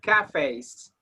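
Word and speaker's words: cafés: Yeah, and it's, look, the pronunciation is cafes, like cafes.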